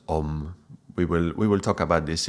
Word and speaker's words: Om: Now, if you look online, you will find that even though it's written as A, U, and M, it's actually pronounced Om.